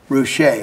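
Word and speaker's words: Ruscha: it was ed ward he spelled it out phonetically roushay i think is it's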